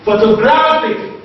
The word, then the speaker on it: photographic: Photographic, photographic, the second from the last syllable is what? Is gra, and that is stressed.